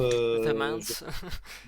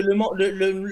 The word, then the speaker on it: Le Mans: Normalement, The Mans. hein? The Mans. Non, non, non, non, non, parce que le Mans, non, non, Le Mans, même les Anglais et